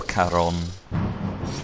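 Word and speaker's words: Charon: pay a toll give Sharon all your money and enter the castle I know he's pronounced Chon or Caron but I prefer calling him Sharon you know it makes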